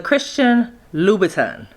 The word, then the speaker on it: Christian Louboutin: And today I'm going to be doing the Christian, I finally figured out how to pronounce it. The Christian Louboutin.